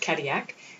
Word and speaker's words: Cadillac: when we arrived in Kodiak which is felt like Cadillac but they pronounced at Kodiak there were four excursions